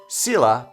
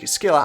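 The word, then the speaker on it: Scylla: And then I looked it up, and it was like, Sela, or the Greek, Skilla.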